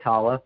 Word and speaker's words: Tallah: yeah that's correct uh we've been going with Tala I mean I've heard plenty of different ways of pronouncing it but that's how the members of